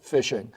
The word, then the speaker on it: phishing: These scams are called phishing, and phishing, by the way, is spelled with a PH, but it's pronounced phishing.